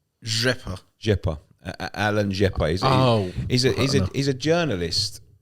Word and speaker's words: Rzepa: Okay, so I took offence to a tweet from how do you pronounce his name? Rzepa.